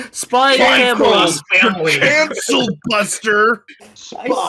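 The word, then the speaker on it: Spy × Family: I mean, like Spy X, not Spy X. I said it wrong. No, Spy Family.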